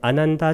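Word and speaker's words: Ānanda: 이 경의 설자는 아난다 존자인데 아난다 존자는 빨리어로 아야스마 아난다 이렇게 얘기하는데 아야스마가 존자란 뜻이고 경칭을 앞에 씁니다. 그 다음에 아난다가 아난입니다. 앞에를 길게 발음해야 됩니다. 아난다.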